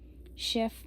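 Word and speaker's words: chef: शेफ में हम F pronounce करेंगे क्योंकि लास्ट में हमारा सी यार एफ में से आ रहा है तो एफ है तो हम इसको भी प्रोनाउंस करेंगे।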